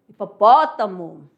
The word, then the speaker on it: hipopótamo: Não tem som pro H. Posso provar aqui para vocês, ó. Aqui você tem um animal, né? Hipopótamo.